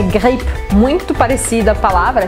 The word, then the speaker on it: grippe: Gripe é grippe, muito parecida a palavra, é só a pronúncia que vai mudar.